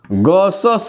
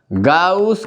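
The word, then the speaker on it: Gauss: From गॉसस लॉ, गाउस के, चाहे गॉस भी बोल देता है, प्रोनाउंसिएशन के ऊपर होता है, गॉस के नियम से क्या होगा?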